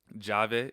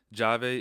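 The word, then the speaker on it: llave: Jave is another answer. Jave is the word for key. Key is like, you know, a key, open the door, anything like that. It's double L A V. Jave. So, that's the same thing. Jave ejamo. It produces a J sound.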